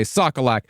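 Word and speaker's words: Sokaluk: And yes, the name Brendan Sockolak appears as if it should be pronounced Sockoluk or Sockaluk, whatever. We watch some old news reports and they all say Sockolak, so if you have any complaints about pronunciation, direct them to the past.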